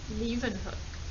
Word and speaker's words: Leeuwenhoek: name was anton van leeuwenhoek that's a bit of a tricky name to pronounce pronounce it as a dutch name because anton van leeuwenhoek was from holland today we are going